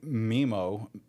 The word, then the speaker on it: Mimo: DJ Mimo.